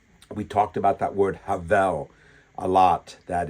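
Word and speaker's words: הבל: That's h e v e l or habel, but h e b e l, but I believe it's pronounced havel, meaningless.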